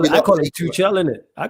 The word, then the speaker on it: Tuchel: saying before, would you not take is it Tunchel? Is that how you pronounce it? We know what you're talking about. It's calm. Let it run. Yeah. It's cool. Who's that? Tuchel, you mean?